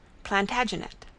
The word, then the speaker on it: Plantagenet: covered with his visor the Latin name for broom is planta janista and gradually it came to be pronounced plantagenet although Jeffrey was French he